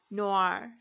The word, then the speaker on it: noir: it's a hard word nor nor Noir Noir yeah that's it Noir spell phonetically on